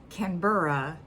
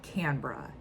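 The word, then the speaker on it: Canberra: of different answers but basically what I took away from all the different answers is that it's said canura but you guys lazily call it canra that's what that was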